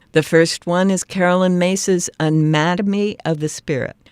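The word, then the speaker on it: Myss: first one is Carolyn mace's anatomy of the spirit now mace is spelled m-y-s-s anatomy of the spirit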